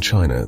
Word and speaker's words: qi: In ancient China, this was known as qi, pronounced chi.